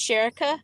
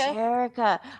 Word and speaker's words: Sheriqa: It's Sheriqa, like Erica. Sheriqa.